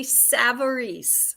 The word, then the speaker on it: Savarese: Miss Liz yep and my name is pronounced savaris Savory yes and I even